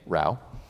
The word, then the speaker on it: Rauh: By the way, that's how you pronounce my name, Rauh.